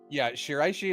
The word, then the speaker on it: Shiraishi: Sorry, I'm gonna mispronounce all these names, but yeah, Shiraishi is correct.